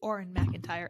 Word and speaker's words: Auron MacIntyre: And he actually pronounces it correctly, Auron MacIntyre, AuronMacIntyre.